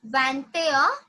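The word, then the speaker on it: vingt et un: Now 21 is like van, a, van, a. It's pronounced like vante, a. The pronunciation goes like vante, a. Vante, a. "21" is van air, vantair. Yeah, 21 is vantair, 22 is vander.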